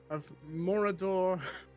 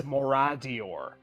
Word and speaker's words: Moradior: relive the passing of Morador. Wait, how do you pronounce it? Like Mordor? Morador. I can't remember how to pronounce it. I'm sorry. Just So so you're- everyone's you're- aware, it's Moradior.